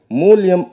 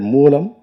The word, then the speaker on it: மூலம்: அவர் பேசும்போது மூல்யம் என்று மூலத்தை அவர் உச்சரித்தார். அப்படி உச்சரிக்கலாகாது தம்பி. மூல்யம் என்றால் நிமித்தம் என்று பொருள். இனி வரும் மேடைகளில் நீங்கள் மூலம் என்கிற சொல்லை சரியாக உச்சரிக்க வேண்டும் என்பதை ஒரு வேண்டுகோளாக நான் இந்த மேடையில் சொல்கிறேன்.